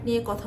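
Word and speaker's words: Nike: জুতার একটা famous brand নিয়ে কথা বলি এটা চালু হয়েছিল 1971 সালে সারা বিশ্বের খুব বিখ্যাত একটা ব্র্যান্ড এটা উচ্চারণ করতে হয় নাইকি নট নাইক এটা হবে নায়িকি এবার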